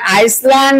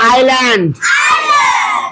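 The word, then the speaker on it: island: এ এন বি এটা আইসল্যান্ড না আইল্যান্ড আইস ইজল্যান্ড আইল্যান্ড আইল্যান্ড না ইজল্যান্ড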